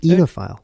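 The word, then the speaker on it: oenophile: Enophile. Enophile. Eno. Because it's kind of like vino. That's how I remember it.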